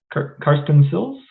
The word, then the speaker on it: Karsten Silz: all right first up we have carson sills i uh pronounce it correctly yep great all right um